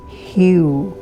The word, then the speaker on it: HU: Hugh is spelled as H-U.